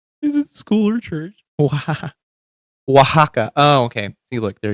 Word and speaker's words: Oaxaca: Adovada pork with pineapple, Oxaca or Osaka. I think that's how you pronounce it.